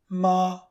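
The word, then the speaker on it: 妈: Together, they form the character for mum, ma. Mummies are women, and the pronunciation is very close to the character for horse.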